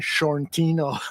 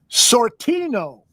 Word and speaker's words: Sortino: I mispronounced his name on a previous show. It's a Dan Sortino. Yep. Okay. Short shortino. Shortino. That's what I say. But he says it sortino like like tucha.